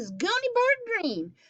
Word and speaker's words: Greene: name is gundy bird green that's green with a silent e at the end and i just moved